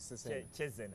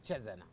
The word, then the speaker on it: Cesena: That's how you pronounce it, Cesena. Cesena.